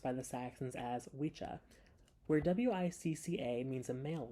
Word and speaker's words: wicca: the wise people spelled w-i-s-c-ca this word often pronounced Wicca is the old word for a male witch however today we mispronounce this word as it would have been pronounced by the Saxons as wicha where w-i-c-a means a male witch w-i-c-c-e means